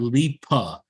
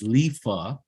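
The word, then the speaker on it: Lipha: and leaf of tech it's not Lipa it's lifa but anyway shout out to Leaf attack it's spelled l-i-p-a it's l-i-p-h-a Lisa Tech yeah no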